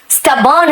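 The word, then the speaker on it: stubborn: देखो मैंने कहा था ओ का प्रोनंसिएशन खाली ओ नहीं है अ भी होता है। तो आप समझ गए ना स्टबर्न है।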